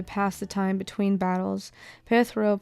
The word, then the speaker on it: Perthro: Perthro, pronounced perthro, which is in the shape of a